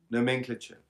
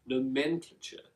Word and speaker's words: nomenclature: like that word nman clater how do you pronounce it nomenclature nomenclature which is the collection of words that we